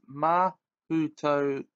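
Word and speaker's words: Mahoutokoro: So, we'll now go to Mahutakuro. It's pronounced Mahutokoro.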